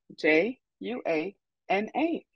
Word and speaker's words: Juana: It is spelled J-U-A-N-A, and it's pronounced Juana.